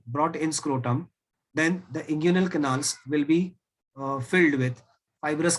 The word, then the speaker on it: inguinal: those canals are called as inguinal canals या inguinal canals. जैसे आपको प्रोनाउंस करना है प्रोनाउंस कर सकते हो.